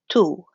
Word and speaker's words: tu: speaking countries in africa the word for you is going to sound like the word in spanish it's gonna be tu tu tu so that's gonna